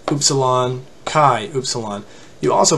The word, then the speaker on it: upsilon: one it's not an up salon it's upsilon much like a double o sound in english like in the word